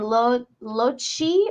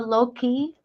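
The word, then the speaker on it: Locci: the Lo Blanco and lochi or Loki the way it's spelled is l-o-c-c-i August 21st 1968 they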